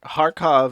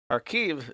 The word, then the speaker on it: Kharkiv: Kharkov is the Russian pronunciation for Kharkov. Kharkiv is the Ukrainian pronunciation.